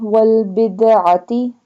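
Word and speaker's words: والبدعة: Wal-ghibati wal-bid'ati, bid'ati ayn, pronounce ayn from the middle part of throat.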